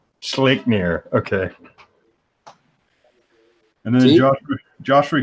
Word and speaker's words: Sleipnir: However you pronounce that name. Sleipnir. Sleipnir.